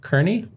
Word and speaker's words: Kearney: ordered saying yeah and Carney O'Neill's Carney Kearney and O'Neill's is that what it is Carney how do you say it Kearney I say Kearney Kearney yeah Kearney I don't know here neo